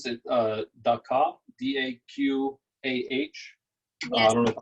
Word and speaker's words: Daqah: some names that Daqah, D-A-Q-A-H. Yes. I don't know if I'm pronouncing. Is that right, Daqah? Yes, it's da'a.